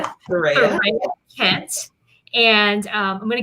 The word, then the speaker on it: Thurraya: Did I pronounce that correctly, Thurraya? Yes, Thurraya.